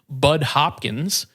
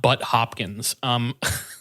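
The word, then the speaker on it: Budd Hopkins: intentionally mispronouncing his name, Bud Hopkins, gives an introduction to the book, and I can confirm his name is not Butt Hopkins.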